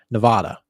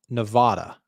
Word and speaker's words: Nevada: uh for everyone like everybody I know calls this state Nevada but everybody in this state calls it Nevada so I don't know what they're saying over in Nevada they just got their state name wrong but it's Nevada Nevada